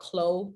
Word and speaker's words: CLO: you can check out khloe 3d it's spelled clo 3d and they have a